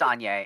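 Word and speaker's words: Anje: our anji Falcon wrath Anya Anya I don't know if there's the right way to pronounce uh if there is I don't know it oh it's Anya it's it's a soft J okay I'm saying Anya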